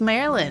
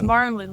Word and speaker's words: Marlin: It's Marlin like the fish.